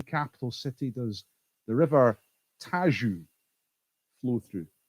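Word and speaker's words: Tejo: city does the river tajou flow through now it says tagus doesn't it but i somebody told me how it pronounced this once and i think it's tajou so which european capital city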